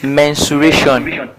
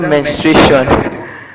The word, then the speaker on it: mensuration: and that topic is mensuration I think till did some people don't know how to pronounce that thing it's not menstration menstration that's I'm going actually